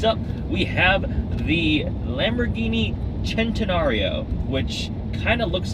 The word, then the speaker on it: Centenario: we have the Lamborghini centenario which kind of looks like centenario Cent it just it looks like centenario but leave it to the Italians for one C being pronounced like a CH it is uh supposed